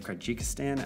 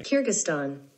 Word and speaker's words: Kyrgyzstan: land of nomads looks at the country of karjikistan i hope i'm saying that right man i'm bad at pronouncing things what what does google say kyrgyzstan kyrgyzstan what let's i thought kyrgyzstan okay kyrgyzstan